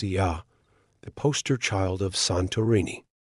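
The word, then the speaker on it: Oia: At the heart of the island's allure, is the village of O Ya, pronounced Ya, the poster child of Santorini.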